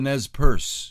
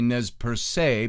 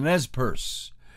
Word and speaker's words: Nez Perce: country and we're going to talk about the nez perce is the way it's pronounced i always say nez per se because it's got that accent point and i